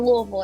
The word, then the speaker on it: Louisville: oh louisville okay well we pronounced it louisville everybody else says i could dig it